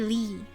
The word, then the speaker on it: Ly: And that is a that is a Chinese origin last name and it is still pronounced Lee in Vietnamese for us anyway.